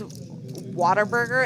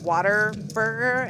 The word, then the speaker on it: Whataburger: they have oh everybody here says whataburger and it sounds like water burger and i would make fun of them but i say what a burger like i like when